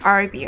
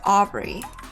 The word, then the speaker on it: Aubrey: Did I say her name wrong? I think I said like RB or something. It's Aubrey.